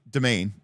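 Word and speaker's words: demesne: It's it it's still it's still pronounced domain, but it's spelled very strange.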